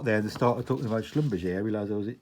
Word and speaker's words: Schlumberger: of them was didn't even know how to pronounce the name of the company. I was calling it Schlumberger. But yeah, so as soon as I got there, they started talking about Schlumberger.